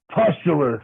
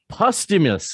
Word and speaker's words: Pustulus: Pustulus Maximus. Pustulus. Okay. Now it turns out Pustulus, like pustules and oozing pimples and zits and shit like that.